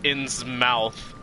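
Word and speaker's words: Innsmouth: a whole game where people pronounce it inn's mouth i don't care if it's correct it doesn't sound right uh so in smithers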